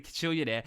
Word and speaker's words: Kajillionaire: And another one that I saw just the other day, the Kajillionaire, I'll say it correctly, Kajillionaire, which is the latest Miranda July film, a